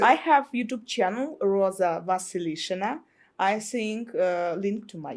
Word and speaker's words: Vasilishina: I have YouTube channel, Roza Vasilishina. I think link to my YouTube channel. You might have to spell that last name.